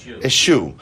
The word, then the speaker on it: eschew: How do you pronounce it? Eschew.